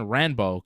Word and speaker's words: Ranbo: it the New Japan ranbo cuz the L Sound is like not something in Japan that they have so um it's ranbo New Japan they call it the New Japan ranbo because they couldn't say